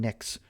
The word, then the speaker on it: Knicks: There's been a lot going on in the world of a Jets Islanders Mets with a Silent K Nick Knicks fan.